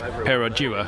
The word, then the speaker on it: Perodua: diminutive red car, which I believe we've all been pronouncing the manufacturer's name wrong. I would have said it was a Perodua, but what is it actually? Well, as of this morning, I've discovered it's Perodua, but then someone else told